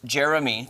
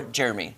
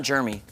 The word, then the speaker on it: Jeremy: I'm like, I don't mind my name being pronounced Jeremy, 3 syllables, or Jeremy, 2 syllables. Yeah. I don't mind either of those, just not Jeremy.